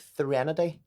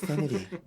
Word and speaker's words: threnody: But Threnody. It sounds like Drew Barrymore trying to say serenity. I said Threnody. I found Threnody in my life. Threnody.